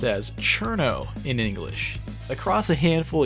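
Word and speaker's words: Cirno: thought her name was cerno but in doing some research I found out some people say her name as chirano which is based on how it's spelled in Japanese after evaluating all available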